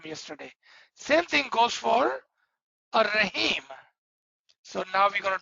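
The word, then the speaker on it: الرحيم: If you're writing it, you will write Al-Rahim, but when you say it together, Ar-Rahman Ur-Rahim. Now the Alif and Lam both becomes silent.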